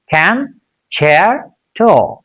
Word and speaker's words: concerto: Concerto. Can you repeat after me? Can, chair, to.